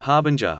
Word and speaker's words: harbinger: I didn't pronounce the G in harbinger with the J sound. I rhymed it with ringer.